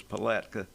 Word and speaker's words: Palatka: I heard that Big Jim couldn't pronounce that word yesterday. So, it's Palatka Christian.